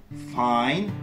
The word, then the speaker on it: find: Le I se prononce I lorsque suivi de ND ou de GN en fin de mot, et le cas échéant, le G disparaît.